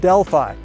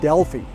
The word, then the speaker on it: Delphi: I always thought it was the Oracle of Delphi. Turns out that pronunciation is wrong. It's the Oracle of Delphi.